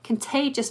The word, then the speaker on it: contagious: Now, that first syllable, the con, becomes the weak syllable, and that o becomes a schwa, contagious.